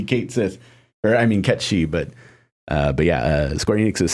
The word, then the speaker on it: Cait Sith: No, he's saying everyone should just continue pronouncing it Ketshi.